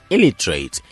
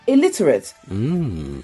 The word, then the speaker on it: illiterate: on the first syllable the stress is actually on the second syllable plus the last two vowel sounds are schwa sounds so it's pronounced illiterate time now for word